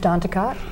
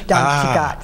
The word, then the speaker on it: Danticat: Edwidge Danticat.